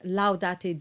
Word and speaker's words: laudate: So you have two clear ah sounds and with a little diphthong, laudate.